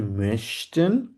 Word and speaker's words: möchte: Similarity হচ্ছে এখানে একটা হচ্ছে মেশটেন, এটা হচ্ছে umlaut আছে, আর একটা হচ্ছে mochten, এটাতে কোনো umlaut নেই।